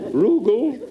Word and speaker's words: Rugal: Rugal. It It rhymes with bugle.